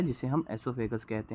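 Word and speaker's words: oesophagus: ओएसोफेगस नहीं, एसोफेगस, ओ यहाँ पे साइलेंट होता है।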